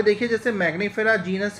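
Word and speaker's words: Mangifera: डाइकोटलीडोनेई, एंजियोस्पर्मेई, ठीक है, सेपेंडेलिस, एनाकार्डेशिया, और ये मैग्नीफेरा। ठीक है, मैंगनीफेरा, मैंगनी न का इसमें उच्चारण होगा एन की वजह से, ध्यान रखिएगा।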